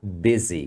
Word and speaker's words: busy: ocupado are you busy aqui se fala Beze com som de i aqui agora vamos fazer